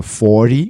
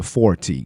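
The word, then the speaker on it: forty: É muito comum a letra T ter um som de R no inglês americano. Então o número 40 seria 40.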